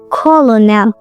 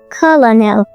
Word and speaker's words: colonel: Almost everyone reads it like colonel or colonel, but no, it actually comes from Italian and French, so the spelling got messy. In American English, it's colonel. Colonel says a clear R sound like colonel, colonel.